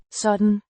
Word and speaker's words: sådan: we, sådan, Means such, or like this, pronounced sådan, so Dan, with a slightly longer å, sound similar to the o in go, and a softer d sound than in English.